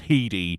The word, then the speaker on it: Headey: But yeah, it is spelt like head, but it's pronounced he, not helped by the fact that, it's the same syllable sound. Oh. But it's spelt EY at the end, so it's Heedy.